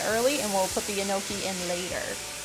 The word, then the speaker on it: enoki: So we'll leave these ones in early, and we'll put the enoki in later. Are they spelled like gnocchi, like the delicious? Enoki. Oh, okay. Gnocchi. Not gnocchi. Enoki.